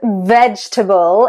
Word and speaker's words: vegetable: So comfortable and vegetable is the other one. 3 syllables.